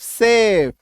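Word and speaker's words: chef: एम ए सी एच आई N machine C एच ई एफ सेफ सी एच ए एन डी सैंडलियर सी एच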